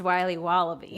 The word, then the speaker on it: Wiley Wallaby: Can I have a piece of that Willy Willoughby? Wally Wibbly. Wiley's Wallabies. Wallaby Wallies? Wilby Wababy? It's pronounced Wiley Wallaby.